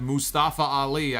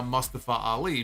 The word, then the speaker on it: Mustafa Ali: that's why I say instead of Mustafa Ali I say it now Mustafa Ali because he came out later and said that's how my name is said and he got them